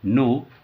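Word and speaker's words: know: उड़ो, कुनो नहीं पढ़ेंगे इसको, के साइलेंट होता है, इसके ये अलग मेथड है क्यों साइलेंट होता है। तो के साइलेंट होता है तो नो पढ़ेंगे, नो मिस जानना, NO नो, नो मिस नहीं।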